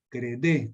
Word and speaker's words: Credé: se llama método decreté CR d e credé con acento en la última e muy bien Vamos a